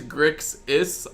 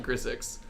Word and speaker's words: Grixis: It is Grix-is, not Grissix. I do mispronounce that a lot, so... Reasonable people can disagree on many things, but the pronunciation of an X is not one of them.